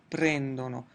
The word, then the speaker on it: prendono: Notice that in the 'lore' form in none of the conjugations will we ever have the emphasis on the ending itself. It's always going to be before the ending so it's COM-prano, PREN-dono, AP-rono.